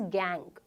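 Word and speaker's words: gangue: ठीक है, इसका स्पेलिंग थोड़ा सा अलग होता है, GNGUE, बट इट is pronounced as गैंग।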